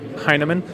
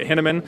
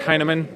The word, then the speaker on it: Hinaman: it's it's also pronounced a lot of people pronounce it henneman and that's incorrect it's uh heinemann kind of like hey man are you high yeah nah man i